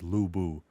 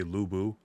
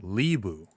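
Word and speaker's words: Lu Bu: could just like say lubu or whatever. People in the discord have been like, "Oh, you say it like lieu." And that is that is not correct.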